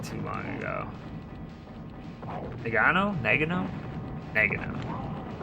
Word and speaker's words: Nagano: Like oregano, but not in any way. I can't even say it like that. Nagano, so I was right the first time.